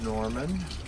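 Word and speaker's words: Gnorman: This is Norman, spelled with a G, G-N-O-R-M-A-N.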